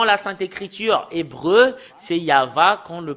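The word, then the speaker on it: יהוה: hébreu tout à l'heure c'est yava quand on le prononce il a la première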